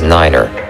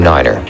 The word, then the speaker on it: niner: For numbers, speak one digit at a time and pronounce the number nine as niner. For example, to refer to runway 29, say runway 2 niner.